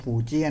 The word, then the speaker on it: Fujian: อ นึก เ ว่า คล้าย กับ Fuji นะ ครับ เพราะ มัน เขียน Fu j i a นะ ครับ อ่าน ว่า fui นะ ครับ เป็น สัญชาติ จีน นะ ครับ ไม่ ใช่ ญี่ปุ่น นะ ครับ เรา มา